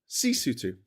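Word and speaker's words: Sesotho: Uh, lutu is pronounced lutu. The people are called basutu and the language is called cisutu.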